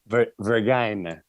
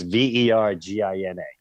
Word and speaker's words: Vergina: Vergina. Oh, is that what it is? It's spelled like vagina. It's Vergina. Okay. It's great. Well, here's the thing. Vergina is the real story